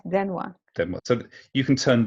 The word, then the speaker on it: 電話: Denwa. Denwa. Oh, yeah, right. Denwa.